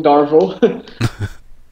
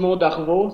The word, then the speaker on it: Darveau: French we say darvo so we don't pronounce the r the same way but Dar darvo the E Au part of it is just pronounced simply o gotcha very cool very